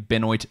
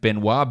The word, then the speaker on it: Benoit: to pronounce his name so I called him Bennett Benjamin is in fact Benoit Benjamin of the LA Clippers 23